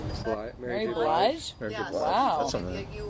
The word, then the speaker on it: Blige: somebody told me once that your voice was similar to, and I'm really bad with pronunciation of names, Mary Bilge? Is that- Mary Blige?